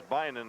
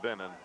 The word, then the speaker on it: Bynan: That was Bynan that intercepted, not Binnen. The spelling is there. It's just that yours truly came up with the wrong pronunciation.